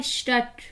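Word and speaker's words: Stadt: लोग इसको गलत बोल देते हैं, स्टड बोल देते हैं, ये स्टड नहीं होता, स्टट होता है, स्टट, श्मिट, स्टट, श्मिट।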